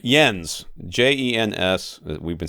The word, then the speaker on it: Jens: amusing he says to just say it like the word yes but with an n before the s just like i'm going